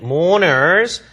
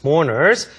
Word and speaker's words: mourners: mourn 하면 애도하다라는 뜻인데 mourners, R 발음 거의 발음 안 됩니다. mourners. 그러면 조문객. 자, 조문객들이 또 돈을 장례식장에 들고 온다고 들었다라는 얘기를 합니다. Angie says, I heard mourners bring money to the funeral.